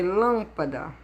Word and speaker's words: lâmpada: É lâmpada. Lâmpada. Aí a sílaba tônica tá aqui, ó. Então, ela é proparoxítona, porque ela está na última, penúltima, antepenúltima. Está na antepenúltima.